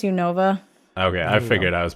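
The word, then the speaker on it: Unova: I'll sleep I just want to clarify it's pronounced u Nova ok I figured I was pronouncing wrong I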